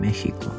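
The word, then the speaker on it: México: Another thing that can happen is that X gets pronounced the same as J, as in the word Mexico. This happens because these words are loanwords from the Nahuatl language, one of the indigenous languages of Mexico.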